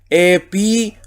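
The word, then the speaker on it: ἐπιούσιον: ¿Por qué U? Omicron con Y, siempre U, ¿ya? Por eso leo epiusión, ¿ya? Ténganlo presente que siempre esa Omicron con esa Y hay error en la lectura. Omicron Y, U, epiusión, porque marco ahí también el acento agudo.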